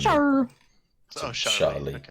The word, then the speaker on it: Char: It's Shah from like Gundam, from like the classic Gundam. Char.